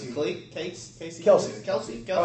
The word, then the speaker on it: Kelce: How do you pronounce it? Casey? Kelsey.